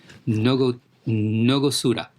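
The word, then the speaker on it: 納骨堂: While the Japanese have let me pronounce this correctly, Nogosuda.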